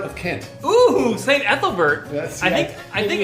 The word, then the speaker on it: Ethelbert: they ate the Christians right how do you pronounce that Apple bird of Kent oh saint ethelbert yes I think I think ethelivert was also